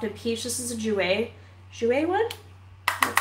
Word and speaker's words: Jouer: This is a Jouer one?